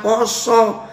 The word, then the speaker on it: pasa: saya sebagai orang Jawa, oh pasa dibaca poso harusnya. Karena orang Jawa kalau nulis A itu bacanya o. Ya, contoh serto orang ngandemi ing kayekten ngademi ing kayekten itu pakai a dibaca o harus ya.